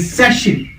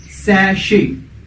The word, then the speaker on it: sachet: The correct pronunciation of this word is सैशे. सैशे. You can write it in simple letters as sachet, SASHAY, and in phonetic transcription it would be sachet.